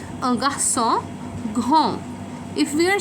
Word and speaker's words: grand: we will just use g r a n d. We are not going to pronounce the ending, which is the d, and we will just say grand.